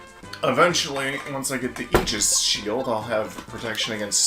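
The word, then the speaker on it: Aegis: that pronounces it other ways but I will pronounce it Eis I mean I honestly would have always assumed AIS that's what I would think AIS which something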